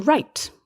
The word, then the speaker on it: write: This is very similar to the word to write with a pen, to write. W-R-I-T-E, another silent W.